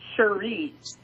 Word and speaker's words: Cherie: It's more like Cherie. So it's kind of like Cherie. S-U-R-E. Well, the way you pronounce it is kind of like that. Like sure and then re. Cherie. Okay.